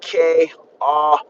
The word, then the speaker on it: Keala: The E makes an A sound, so you pronounce it Ke'ala.